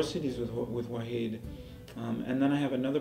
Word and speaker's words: Wahid: It's W-A-H-I-D. W-A-H-I-D, which in Arabic means, well, actually in Arabic it's pronounced Wahid, I think. Like an I without a dot in Turkish.